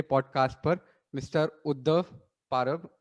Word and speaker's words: Parab: Podcast पर mister Uddhav पारब। अब मैंने आई गेस सही परब प्रोनाउंस परब परब परब परब हाँ या like it's sir. Literally like ये परब क्या होगा, it's that's what my name is.